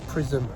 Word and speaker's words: Prism: first show at prism sounds like prison doesn't it but it's not it's prism you don't even spell